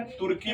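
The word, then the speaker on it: Turkey: तुर्की बोल दो, टर्की बोल दो, अपना अपना प्रोनाउंसिएशन का तरीका है।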